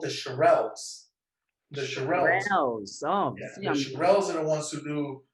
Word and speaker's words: Shirelles: I R R E the Shirelles. So see, I was saying the Charlene's.